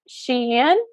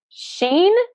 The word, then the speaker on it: Shein: Some people say it Shein. Some people say it Sheen. Some people say it Shine. I say Shein. That's how I pronounce it, so that's probably incorrect.